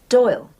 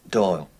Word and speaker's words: Doyle: Doyle. Doyle. Rhymes with Boyle.